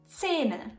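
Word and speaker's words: zehn: To understand the most common joke about time in Bavaria, you have to know that 10 is pronounced in Bavarian Zähne.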